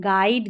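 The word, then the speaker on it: guide: गाइड, गेस्ट और गार्ड, यहाँ पर यू साइलेंट है।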